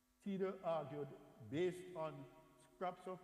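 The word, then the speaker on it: Thiede: Another papyrologist, Carsten Tiede, and by the way, the TH in German is silent. It's just like, sorry, not silent, just pronounced as a T, not as a TH. Tiede argued, based on scraps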